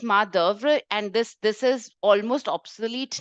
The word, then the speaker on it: main d'oeuvre: So we pronounce this as main d'oeuvre, and this is almost obsolete now.